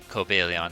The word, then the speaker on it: Cobalion: As you can see, 3 years ago, we covered Cobalon before. Coaleon technically is how it's pronounced, but now we have Iron Crown to look at.